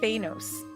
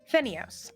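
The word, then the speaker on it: Fenios: This island is Phanos. F-E-N-I-O-S. Phenios.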